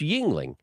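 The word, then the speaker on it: Yuengling: the name of that beer he's like it's Yingling bless you so I I didn't really understand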